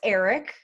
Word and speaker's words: Ehrich: demi lovato's engagement wow she's engaged to max eric that is how you pronounce it apparently um it has been like